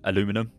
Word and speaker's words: aluminum: mine which will mine aluminum which is the American pronunciation otherwise known as aluminium